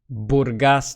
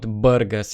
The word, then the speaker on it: Burgas: in the country include plavdiv Varna and Burgess Burgas not Burgas it's not a burger by the way I also live in Varna the previous City 3.